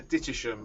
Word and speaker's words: Dittisham: It runs, well, as we would pronounce it down here, Dittisham as it's spelt. It runs between Greenaway and Dittisham and lands on the pontoon outside the ferry boat inn.